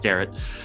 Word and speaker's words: Derrat: Some people pronounce it Derrat, and I don't hassle them for it. It's what it looks like, but it's pronounced Derrat.